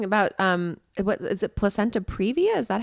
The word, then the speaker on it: placenta previa: I was reading about um what is it placenta previa is that how you pronounce it yes yes how we do did